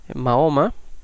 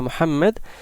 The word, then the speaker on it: Muhammad: quién fue magnet que en español le llaman mahoma pero que es un término realmente errado su nombre mohamed y de hecho es interesante que inglés se mantiene de forma más cerca de la pronunciación que en castellano pero sea como sea